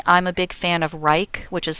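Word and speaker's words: Wrike: been made personally i'm a big fan of reich which is spelled w-r-i-k-e a lot of people like asana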